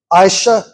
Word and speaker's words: Aisha: Like the letter I. And then sha.